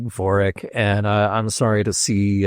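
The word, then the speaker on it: Vorik: Tori is spelled T A U R I K. Voric is spelled V O R I K, but phonetically they're the same.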